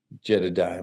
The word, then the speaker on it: Jedediah: Jedediah Morgan.